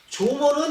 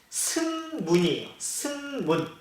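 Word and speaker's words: 縄文: 조먼 문화라고 하는데 조먼은 일본어 발음이에요. 이 조먼을 우리말 한자 그대로 읽으면 뭐라고 하냐면 승문이에요. 승문을 일본어로 읽으면 조먼이에요.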